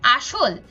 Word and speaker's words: আসল: আমাদের তালব্য স দিয়ে লিখতে হয় কারণ এটার উচ্চারণটা আসলে স এর মত এরপর আসল এখানে আমাদের বানানে রয়েছে দন্তস কিন্তু আমরা উচ্চারণ